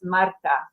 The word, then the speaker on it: Marta: it's just funny yeah so it's Marta like really in Polish it's Marta um but yeah Marta will be just fine so um I'm also